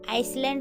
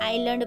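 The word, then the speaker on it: island: तो इसे हमें आइसलैंड नहीं पढ़ना। तो इसे हमें आइलैंड पढ़ना है।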